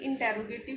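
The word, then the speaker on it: interrogative: अभी इंटेरोगेटिव form या इंट्रोगेटिव form भी इसको बोल देते हैं, प्रोनाउंसिएशन अलग अलग करते हैं, ठीक है। कई लोग इसको इंटेरोगेटिव बोलते हैं, कई इंट्रोगेटिव बोलते हैं, दोनों ही ठीक है, ठीक है।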